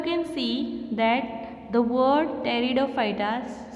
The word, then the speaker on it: Pteridophyta: Here you can see that the word Pteridophyta starts with the letter P, but here P is silent and so we spell it as Pteridophyta.